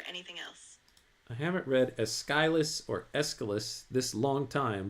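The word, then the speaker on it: Aeschylus: Yes, that's pronounced as Eskilus.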